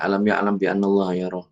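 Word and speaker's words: أَلَمْ يَعْلَمْ بِأَنَّ اللَّهَ يَرَى: Jadi ada ikhfanya memang, tapi tetap cara membacanya itu adalah dengan mengatupkan kedua bibir. Alam yalam. Alam yalam biallaha yaro. Alam yalam biallaha yaro.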